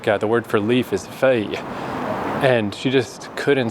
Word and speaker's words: feuille: Stuff like the word for leaf is feuille.